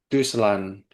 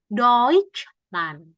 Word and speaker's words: Deutschland: Ich komme aus Deutschland. Tadi kan TSCH bacanya kayak C ya.